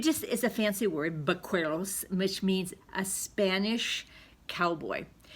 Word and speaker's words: vaqueros: It's pronounced with a B, but it's actually spelled with a V. But it just is a fancy word, vaqueros, which means a Spanish cowboy.